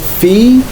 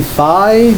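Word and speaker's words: phi: symbol this is called Fe some people say fi but most people I think will say fe uh and I think that's that's the right pronunciation so Fe is is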